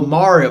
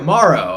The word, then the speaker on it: Maro: You're saying it wrong. My name Mario. How How do you pronounce Oh, Mario. Maro.